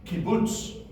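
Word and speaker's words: קיבוץ: the short vow is kibuts kibuts almost like the place where people go and live in is kib Boots um kots is three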